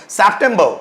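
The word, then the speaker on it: September: उसका लास्ट वाला जो आर होता है उसको साइलेंट बना देते हैं आप देखिए सेप्टेंबर क्या बोला सेप्टेंबर जिसको हम बोलते हैं सितंबर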